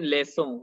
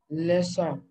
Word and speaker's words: leçon: It only comes with C, like here in Leçon. When it comes with C, it gives S sound.